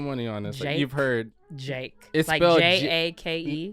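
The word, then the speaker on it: JVKE: want to put money on this you've heard j a k e it's well no it's spelled j v k e first of all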